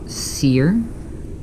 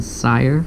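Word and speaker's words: CYR: back in november and the album is called seer i pray it's called seer i've heard i've been i was pronouncing sire for like most of the year and it's by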